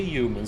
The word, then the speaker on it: human: do I say wrong it kind of sounds like you're saying a u instead of a h yeah there's no like yeah yeah not a H it's an H there is no h